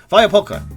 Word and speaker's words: Huachapulco: Oh, I was saying that wrong. Oh, it's a Polish game. Of course they pronounce it that way. Huachapulco.